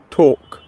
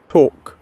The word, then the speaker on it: talk: talk, শোনা যায়? জি ma'am, জি ma'am. talk, ট আছে, বাট ওদের প্রোনাউন্সিয়েশনটা আলাদা হয়েছে, বাট দ্য ট উইল বি দেয়ার।